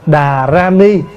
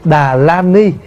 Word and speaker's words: đà ra ni: nó gần hơn vì cái chữ vạn của nó là darrani và mình đọc là đà ra ni nó gần hơn thay vì đọc là đà la ni cũng được Nhưng mà